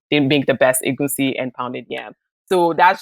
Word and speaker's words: egunsi: look at the internet, people spell egusi EGUSI, but I spell it EGUNSI. And when you actually understand the Yoruba alphabets, it's the N is actually silent, which is egunsi.